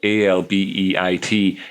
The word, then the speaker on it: albeit: called albeit which is uh which is spell a-l-b-e-i-t and it's where you take the words all